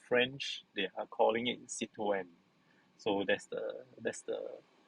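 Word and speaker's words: Citroën: driving uh okay it's a french car the pronunciation the local production is citron but uh if we are talking to french they are calling it c2n so that's the that's the pronunciation and by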